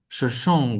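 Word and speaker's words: Shoshone: On 7 April 1805, the young Shashon woman Saka Shashon Shash make give that ne sound at uh at the end of the word um some voice shash woman Saka set out with Merryweather Lewis.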